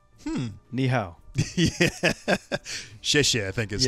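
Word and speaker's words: 谢谢: Xie xie, I think is how you say thank you.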